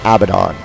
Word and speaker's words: Abaddon: Although, if you notice, his name is actually spelled Abaddon. But it's pronounced Abaddon.